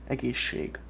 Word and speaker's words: egészség: As I said, the S will change the S and it's gonna be egészség. It's a way of making pronunciation easier. You won't see it anywhere written down unless it's written in phonetically.